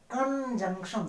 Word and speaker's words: conjunction: कंजंक्शन, कंजंक्शन सही प्रोनाउंसिएशन होना चाहिए, कन CON, JUNC, जंग TION, सन।